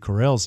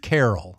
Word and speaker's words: Carell: was it like yes my early pronunciation of Steve Carell was Steve Carol as in Christmas Carol yes sure y love